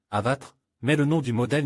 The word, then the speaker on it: Avatr: D'ailleurs, l'entreprise affirme que le nom de la marque s'écrit comme il se lit, Avatre, mais le nom du modèle n'est pas 11 mais 1.